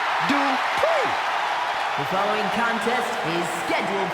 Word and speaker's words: Dupri: Uh, Michael, it's pronounced Dri. The following contest is scheduled for one fall. Making her way to the ring from Phoenix, Arizona, Maxine Dri.